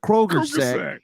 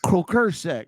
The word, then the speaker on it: croaker sack: That's how they pronounce it down there. They call it's a Kroger sack, but it's a croaker sack.